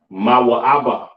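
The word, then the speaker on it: מואב: Pronounced Mawa'aba in the Hebrew, all right? Wow. Wow. All right. Moab or Mawa'aba in the Hebrew, you understand?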